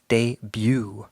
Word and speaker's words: debut: With debut, remember, don't pronounce the T, it's debut.